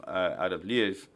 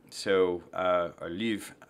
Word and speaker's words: Lviv: Or Lviv, I got to learn how to say it. I'll get my tongue right Lviv. At some point. Lviv. Lviv. Lviv. Yeah, L-V-I-V. Just think of it like Lviv.